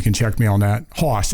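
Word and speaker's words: Haas: check me on that Hoss its Hoss H AAAS he mentions us a farm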